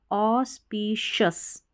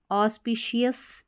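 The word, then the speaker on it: auspicious: ऑस्पिशियस ना पढ़ के शस पढ़ें इसको, ऑस्पिशियस, एफ ई S fest, T आई टी वी ए एल वल, फेस्टिवल।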